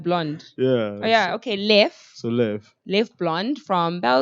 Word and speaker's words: Leffe: Leffe, but okay, It's I was gonna say Leffe,